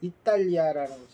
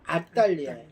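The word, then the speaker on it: 앗달리아: 떨어진 버가와 이탈리아까지 가서 이탈리아라는 발음을 하면 그 이탈리아랑 헷갈리니까 그게 아니라 아딸리아 버가와 아딸리아의 도시들에서 복음을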